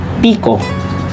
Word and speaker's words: pico: eight then one and our last picot is pronounced as pico with a symbol of